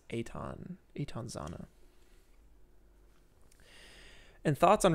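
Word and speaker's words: Eytan: or it's spelled e-y-t-a-n it looks like eaton but it's aton eton zana and thoughts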